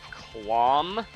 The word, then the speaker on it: Cleome: The first name is said like Clom.